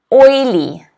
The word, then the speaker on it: oily: The next word is oily. Oily. Oily. Okay, notice again, the apostrophe in the phonetic spelling is before the first syllable. So it is oily, oily, oily.